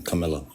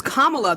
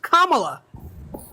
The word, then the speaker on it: Kamala: No complaints here, but he has better policies than Camilla. Name them. It's Kamala. There's no I in her name. It's 3 fucking syllables. She's Indian. Right, and Kamala is an Indian name.